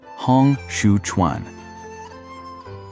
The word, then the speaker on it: Hong Xiuquan: Hong Xiuquan, pronounced roughly Hong Xiuquan.